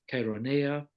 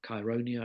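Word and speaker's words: Chaeronea: and the Battle of Carolina or chironia it's pronounced in different ways that's in 338 BCE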